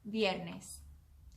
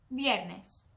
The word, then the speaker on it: viernes: The way to say Friday in Spanish is viernes. I'm going to say it one more time. Viernes. All right, it's your turn. Muy bien. Viernes is spelled V-I-E-R-N-E-S. Viernes.